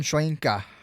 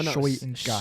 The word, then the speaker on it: Shoyinka: Joe Tryon Shoinka. No. Shoyinka. Slow down the last part. Joe. No. Shoyinka. Shoyinka. Okay. Exactly how it's spelled, you say it.